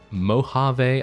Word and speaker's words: Mojave: really good anyway those two groups right there Mojave I know is how you say it yeah